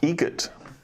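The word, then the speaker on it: Eget: Adam Egret. Egret. Spelt differently. Like the bird. That's Egret. Do you know what Adam Egret has in common with a guitar player? Adam Egret has in common with a guitar player.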